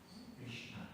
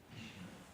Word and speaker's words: Krishna: En een S met een puntje is een Sh. Krishna. En een N met een puntje is meer een Nu. Krishna.